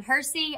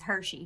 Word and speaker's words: Hersey: katie thurston and john hersey i've been pronouncing his name as hershey for a long time speaker i'm glad to know it's nice yeah well well you're wrong yeah there's no h anyhow katie katie and